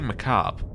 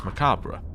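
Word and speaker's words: macabre: always heard it as macabra but the reasoning and in case you're wondering why I pronounce it this way in British English you pronounce the bit of the end in American English you don't which is why you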